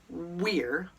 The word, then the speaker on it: we're: W-E-apostrophe-R-E. We're or were. It's pronounced both ways. Huh? Yeah, I know. We're or were.